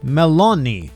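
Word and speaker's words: Melony: as a fun fact is spelt Melanie, like Meloni, kind of like the word melons.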